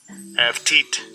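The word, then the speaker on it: עבטיט: Avtit. Avtit. Avtit.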